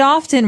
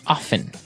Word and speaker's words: often: Now, with pronunciation, some people like to pronounce often, right? They kind of leave out the strong T sound. Well, other people say often.